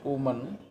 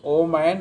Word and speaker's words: woman: behavior of the rich woman? WOMN, woman. Singular is woman, plural is women. WOMEN is women. But mostly people pronounce oman and omen. That is incorrect. WOMN is woman and WOMEN is women.